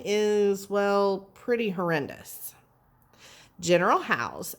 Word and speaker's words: Howe: so let's read it how is pronounced how as in how did this guy become the commander all right how is